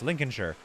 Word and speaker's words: Lincolnshire: It's pronounced like this, Lincolnshire.